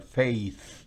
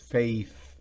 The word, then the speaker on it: faith: No puedo mostrársela, no tenemos video, pero usted puede imaginarse la lengua afuera, no toda tampoco, un pedacito de la lengua afuera, sujeta entre los labios.